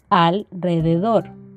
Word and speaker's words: alrededor: Si dentro de una palabra, en la sílaba anterior a donde está la R, si esta sílaba termina en consonante, la R tendrá un sonido de vibrante simple, es decir, una sola R. Alrededor, si se fijan, es menos marcado que decir rueda o ratón.